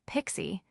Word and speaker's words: PKCE: This is where PKCE, pronounced Pixie, comes to the rescue.